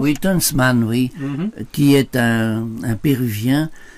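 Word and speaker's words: Tönsmann: Tunchman, c'est comme ça qu'on prononce? Oui, Tunchman, oui, qui est un Péruvien, mais qui s'est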